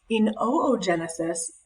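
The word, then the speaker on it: oogenesis: spermatozoa down here um oo Genesis and that is actually how you pronounce it it's weird you say both O's oo Genesis this is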